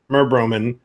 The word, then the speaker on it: merbromin: So merbromin or merbromine.